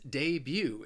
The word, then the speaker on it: debut: the next word is Debut it has two syllables and the stress is on that second syllable and the a debut